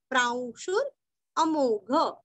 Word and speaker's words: प्रांशुरमोघः: अभी यहाँ पे देखिए शु रस्व और आधा र बोल के अ पूरा बोलना है, क्योंकि आगे अमोघ विसर्ग का उच्चारण आधा श। प्रांशुर प्रांशुर अमोघ, प्रांशुर अमोघ, प्रांशुर अमोघ, वो र पूरा नहीं पढ़ना है, हल्का सा पढ़ना है।